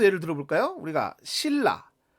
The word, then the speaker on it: 신라: 우리가 신라. 자, 받침이 뭐죠? 받침이 니은이고 뒤에 리을이 왔습니다. 그럼 우리가 조음 방법상 니은은 비음에 해당하고요. 리을은 유음이죠. 그런데 발음을 하게 되면 니은이 리을로 교체돼서 신라 이렇게 발음을 하게 되죠.